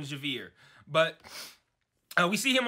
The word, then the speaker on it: Xavier: at beginning episode five we see Xavier Javier it's spelled Xavier in the subtitles with an X that's why it's hard for me to remember they call him Javier but uh we see